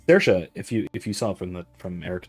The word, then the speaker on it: Saoirse: Saoirse. It's the closest thing in English would be a combination of oi and a. It's Saoirse, which again isn't a thing.